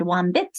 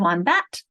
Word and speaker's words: wombat: And if I made any mistakes, maybe Chris noticed that I said wombit instead of wombat, and everyone else repeats, but Chris stays quiet.